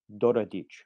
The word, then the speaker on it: Daradics: In Hungarian, the pronunciation is Doradic.